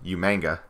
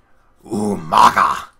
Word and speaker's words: Umaga: And it's just like, Regal, I gotta tell you, you're saying his name wrong. It's like, who, sir? Umaga. Yes, sir, right. It's the young gentleman Umanga. No. It's Umaga.